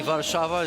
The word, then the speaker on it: Warszawa: But I think it's only fair that I get a proper pronunciation of that city from a man who knows it much better than I do. Absolutely. Warszawa is going to be an important match.